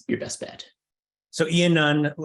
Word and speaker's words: Iannone: your best bet so Ian none as it's basically spelled here but yes yeah yeah